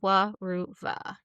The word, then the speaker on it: Weruva: Wuva.